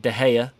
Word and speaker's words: de Gea: years 153 days is david de gea silent g and then 21 years